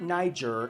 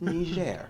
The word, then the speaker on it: Niger: Yes, people, that's how you pronounce it. Nger, not Niger, not Nijer.